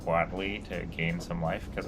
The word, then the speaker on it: Huatli: Huatli. Well, it's just Watley.